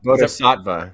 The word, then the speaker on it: Bodhisattva: Bodhisattva? Bodhisattva, yeah.